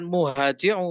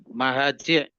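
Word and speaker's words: مهاجع: Sah muntahal jumu begitu Jadi bukan muhaji bacanya tapi apa di bacanya kalau begitu Silakan diulang lagi mahaji ya oke silakan dibaca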